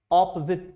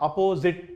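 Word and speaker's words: opposite: पहले तो इसका प्रोनाउंसिएशन सीधे कर लीजिए, ऑपोजिट टू, नॉट अपोजिट टू। मैंने सुना है कि बच्चे बोलते हैं अपोजिट। ये ऑपोजिट क्या होता है? इट्स ऑपोजिट।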